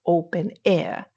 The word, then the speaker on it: openEHR: But first of all what is open ehr or open air like we pronounce it? We pronounce it open air simply because it is easier.